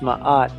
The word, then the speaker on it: Ma'at: he stands upon the symbol of my eye what is my art in hieroglyphics in hieroglyphs in egyptian mythology my odd pronounced ma'at is goddess of law